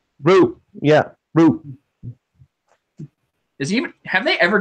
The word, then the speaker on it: Ryu: In Japan, Ryu is pronounced Ru. Ryu.